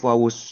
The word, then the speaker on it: wau: itu adalah bagaimana huruf wau diucapkan. Huruf wau itu pengucapannya dengan bibir. Menyempitkan buah bibir. Memang tidak menutup, tapi menyempitkan dua bibir. Hanya menyempikan saja, tidak sampai menutup.